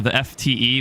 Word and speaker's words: TheftE: I know a lot of people call it TheftE or the FTE, which I have no clue why, but it's actually pronounced TheftE.